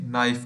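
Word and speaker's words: knife: चाकू को इंग्लिश में नाइफ कहते हैं नाइफ के इसमें साइलेंट है नाइफ थर्मोस थर्मस को इंग्लिश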